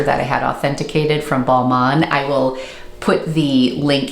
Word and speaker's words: Balmain: I had a lot of people correct my pronunciation, so I'm sorry that I did not pronounce that properly, but the brand is Balmain.